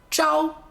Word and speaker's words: 朝: 个字的第一个发音朝，朝在书面语里用的比较多。太阳书面语就是朝阳，朝阳。